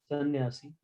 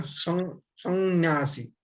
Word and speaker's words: संन्यासी: Now you read सन्यासी sannyasi, sannyasi. So अगर बिंदु का संन्यासी, so नाक में थोड़ा आना चाहिए। संन्यासी, बट नॉर्मली हम उसको उच्चारण नहीं करते, सन्यासी बोल के छोड़ देते।